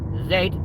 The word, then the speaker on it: zed: It is zed like bread. Yeah. Or zed like dead.